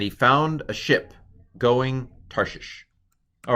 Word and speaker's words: Tarshish: What's under the sheen? It's a hirik yod. E is how it's, a long I is how it's transliterated. So Tarshish.